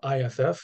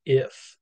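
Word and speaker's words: iff: to have is uh if which is an abbreviation for uh if and only if is just pronounced if um this is not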